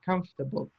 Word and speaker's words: comfortable: Comfortable, and 3 syllables. So it's an irregular word. It's written differently from the way it's pronounced.